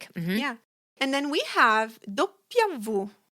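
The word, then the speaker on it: doppia vu: And then we have dopia vu.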